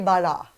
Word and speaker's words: Bala: He goes, "'Cause you're not saying it right." It's actually, your name has a very good sound, not to take away anything from you guys, but Bala. It's just so, See? it's Brazilian because you Yes.